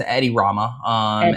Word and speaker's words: Edi Rama: Sure, the So, the current leader is Edi Rama.